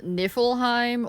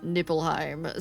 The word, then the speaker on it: Niflheim: that have gone to places that are called Niflheim or Sniffleheim, and both times they have mispronounced it as Nippelheim.